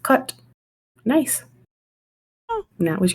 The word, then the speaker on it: Cait: That's how you pronounce that because the word Cait, C-A-I-T, also in Irish means cats. It's pronounced cut.